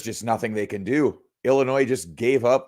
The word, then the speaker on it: Illinois: the tournament feature uh two teams where the S is silent that's funny yeah man at this point it's Illinois versus duzn you know